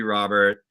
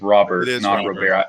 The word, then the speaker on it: Robert: the problem is it's it's not pronounced like your typical Latino player so it's confusing um